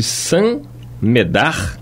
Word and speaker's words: Saint-Médard: Acham que opõem um argumento irretoquível quando, depois de terem procedido a eruditas pesquisas acerca dos convulsionários de Saint-Médard.